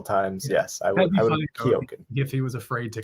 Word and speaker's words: Keoghan: Banshees of Inisherin, they've seen movies with Barry Keoghan.